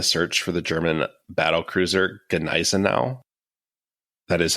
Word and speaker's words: Gneisenau: for the German battlecruiser Gneisenau. That is how you say that, right? You thought I didn't know that one. I feel like also most English speakers usually just drop the G because like that's what we would do.